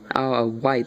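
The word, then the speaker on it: Isle of Wight: Windsor I think yeah a a white County a white that's how you pronounce it 8 Ines near Smithfield 5.6 in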